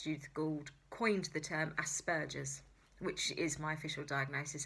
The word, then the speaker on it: Asperger's: Wing wouldn't be very happy with me about that, because it's Aspergers. It's a hard G. You have to think Aspergers, donkey burgers.